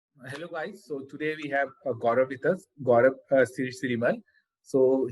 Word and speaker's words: Gaurav: If I'm pronouncing it right, Gaurav.